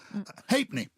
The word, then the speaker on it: halfpenny: Halfpenny. Halfpenny. Halfpenny. There's no F in halfpenny, is there?